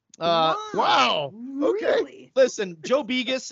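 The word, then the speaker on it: Begos: wow okay listen Joe bigas and that's how you say it by the way a lot of people say Vegas it's biggest yeah he knows what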